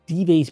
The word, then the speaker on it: Dives: The name stuck, and for me, I chose the Spanish pronunciation. Dives became shorthand for someone on the wrong side of a spiritual reckoning.